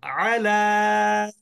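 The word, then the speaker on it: عَلَى: এরপরে বলেন আলা, আলা এখানেও আরেকটা আলা ইয়া আছে, কিন্তু আমরা উচ্চারণ করলাম না কেন?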